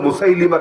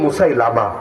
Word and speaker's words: মুসাইলিমা: আর এরপর আরেকটা বের হয়েছিল, তাকে তার নাম হলো মুসাইলিমা কাযযাব, অনেক বাঙালি বলে মুসাইলামা, এটা ভুল উচ্চারণ, মুসাইলামা না মুসাইলিমা, মুসাইলিমা কাযযাব আর আসওয়াদ আনাসি।